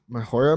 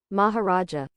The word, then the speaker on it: Maharaja: Chicken Mahora Mac? I'm gonna look up what that is real quick. Hold on. Chicken Mahora Mac? I feel like I'm totally like not pronouncing that correctly. Maharaja.